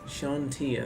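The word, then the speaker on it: Chauntea: Shantia, that's how you say it.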